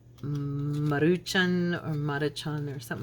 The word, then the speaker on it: Maruchan: funny because I've always I have mispronounced that for my whole life or as long as they've been around because I've always called them Moroccan and she I go